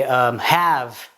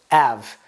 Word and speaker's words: have: instead of ear, or you can say have instead of have, which doesn't mean anything, but it's just have without the H, and we have a